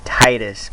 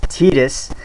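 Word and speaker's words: Tidus: but final fantasy 10 when i first pronounced his name and when i saw him in kingdom hearts number one i pronounced it titus but it's titus that's exactly like how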